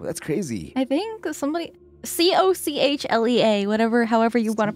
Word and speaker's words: cochlea: crazy I think somebody c-o-c-h-le-a whatever however you want to pronounce e e a I did not spell that right Calera no actually cochlea oh it's cochlea Calera cochlea no cochlea Coke